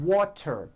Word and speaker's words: water: here are three examples water water is pronounced as water t turns into a d and the whole word is voiced water I want water